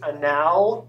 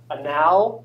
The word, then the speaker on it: anal: So there's two objects in Max that if you pronounce them incorrectly are kind of awkward. Okay. But this is anal, as in short for analysis. And this is prob, as in short for probability. Okay, you all are dirty minds, all of that. Okay, you're thinking of what this. Okay, so if you pronounce these incorrectly, it can be kind of socially awkward.